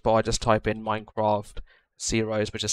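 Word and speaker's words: Xaero: which I showed you guys, which was the Zeros minimap. So in your search bar, just type in Minecraft Zeroes, which is spelled X-A-E-R-O, and then minimap.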